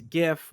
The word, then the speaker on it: GIF: GIF the video image it's GIF with a hard G sorry a hard G